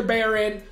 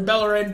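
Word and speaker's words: Bellerín: I'd rather keep Hector Bellerin, or Bellerin, depending where you're from and how you pronounce it.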